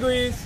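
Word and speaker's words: guys: High গুইস। এই গুইস না গাইস গাইস। আরে ভাই আপনি ইংরেজি উচ্চারণ করেন না, এখানে গুইস না গাইস হয়।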